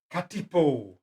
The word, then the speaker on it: katipo: have a look at the new set of katipo spell it for me Willie K a t i